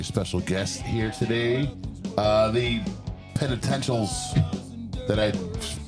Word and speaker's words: Penitentials: The Penitentials.